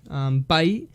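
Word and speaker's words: 貝: Its pronunciation for the onyomi is going to be bai, and it's going to be kite for the kunyomi.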